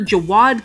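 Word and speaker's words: Jawed: 2005 when the co-founder jawad Kareem and I have no idea if I pronounced that correctly it's spelled J a w ad kind of just sounds like a little kid trying to say Jared but I guess it's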